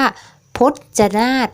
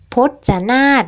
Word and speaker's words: พจนารถ: คะ คำ ว่า พจนารถ นะ คะ พจนารถ นะ คะ จะ มี รูป รถ เรือ ปรากฏ อยู่ ใน อีก ด้วย แต่ ว่า เวลา เรา อ่าน เนี่ย เรา จะ ไม่ อ่าน ออก เสียง รอ เรือ นะ คะ แต่ ว่า เมื่อ เรา เรือ กับ ถุง อาจ ผสม เข้า กัน แล้ว ก็ คือ จะ ทำ หน้า ที่ เป็น ตัว สะกด แม่ กด นั่น เอง นะ คะ